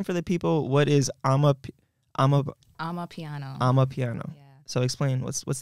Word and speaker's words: Amapiano: How do you pronounce it again? Amapiano.